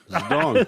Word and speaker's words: Zedong: I mean, like, dude, would I say Zedong? Is this a silent? That was actually nailed it. Zedong. That's exactly right.